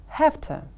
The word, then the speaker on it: have to: means hefta is another model verb let's pronounce it correctly hefter we use have to